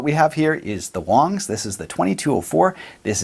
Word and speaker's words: Wangs: much here we go wangs is actually pronounced Wongs it's the most common last name in China and the name of their creator so there you go it's not actually wangs it's Wongs right so all kidding